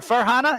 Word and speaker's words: Farhana: it's for Hannah oh ferrana farhana is that how you pronounce it yeah far like Far Away Hannah like Hannah Montana far Hannah Montana all